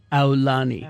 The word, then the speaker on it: Aulani: You pronounce it like ow, like you got hurt for Aulani.